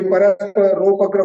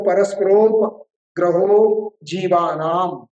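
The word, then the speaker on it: परस्परोपग्रहो जीवानाम्: बहुत सारे लोग इस सूत्र को गलत उच्चारण करते हैं। कई घरों के बाहर तो तीन लोक का साइन बना होता है। नीचे लिखा होता है परस्परग्र जी है ना? बहुत से लोग परस्परोग्रह ऐसा बोलते हैं। कोई परस्पोग्रह बोलते हैं। है ना? तो हमको शुद्ध उच्चारण करना है तो परस्पर ग्रहो जी नाम संधि विग्रह कर रहे हैं।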